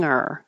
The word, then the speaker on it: hanger: clang but it's clang hanger and it's not wrong if you do say the g like hanger I'll make this bigger